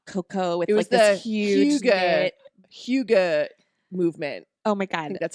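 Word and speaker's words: hygge: drinking a hot cocoa it was the huge Hyuga movement oh my god that's how you say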